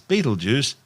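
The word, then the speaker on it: Betelgeuse: sting on Orion's shoulder currently known as battle gurs commonly referred to by the public as Beetlejuice don't say it three times the names are both tortured mispronunciations of the original Arabic name iptalyaza meaning the hand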